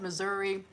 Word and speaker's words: Missouri: I pronounce it Missouri with an e sound on the end.